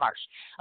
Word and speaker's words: LaMarche: Do you know how it's pronounced? Yes. LaMarche.